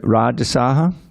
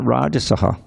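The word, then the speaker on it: rājasāḥ: line you see that Raj Saha it's a long a do you see that little line over the last day there that means that it's not rajasaha isaha okay same thing on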